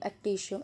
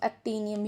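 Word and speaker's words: Actinium: तो वो एक्टिनिशियम होता है, मतलब जो तुम उसकी वो प्रोनाउंसिएशन करते हो, एक्टिनियम, एक्टिशियम, एक्टिनियम ही होगा, ठीक है।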